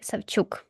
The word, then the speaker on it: Sawchuk: Let's move on to Terry Sawchuk, or with a Slavic pronunciation, Terry Savchuk.